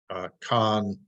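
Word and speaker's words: kan: So in the Maya, this particular one is pronounced Khan, can also mean the cardinal number 4, means sky, but it also means snake, of course.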